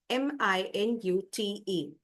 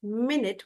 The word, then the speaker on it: minute: first case it is minute which is a short time so the meeting will start in a minute and the second pronunciation is minut which means tiny or very small and the example sentence